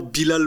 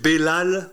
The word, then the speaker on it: Belal: À chaque fois, ça me fait marrer parce que c'est pas exactement Bilal Mohamed, c'est Belal Mohamed.